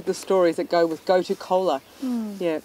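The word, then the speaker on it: gotu kola: Yeah, a lot of people think I'm saying Coca-Cola, and it's not. It's go-to cola.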